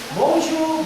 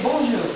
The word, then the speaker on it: bonjour: For example, if I say bonjour, good morning, good afternoon, bonjour. Bonjour, did I say pronounce that as bonjour?